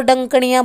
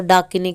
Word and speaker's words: डाकिनी: अब डंकणी बदल बदल के एक थोड़ा अगर शुद्ध रूप से उच्चारण आप करते हो तो डाकिनी कहलाती है।